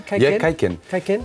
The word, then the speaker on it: Kaiken: It's pronounced correctly? Kaiken? Yeah, Kaiken.